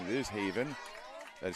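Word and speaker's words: Haviin: It is Haven. That is spelled H-A-V-I-I-N.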